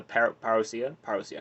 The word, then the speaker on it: parousia: See, apparently he thought my question about the parousia, that's how you say it, was actually formidable,